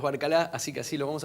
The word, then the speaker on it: Barcalá: nuestro lado a Roberto Barcalá, es el apellido correcto, como se pronuncia, le dicen Barcala a algunos, pero nosotros sabemos que es Barcalá, así que así lo vamos a llamar.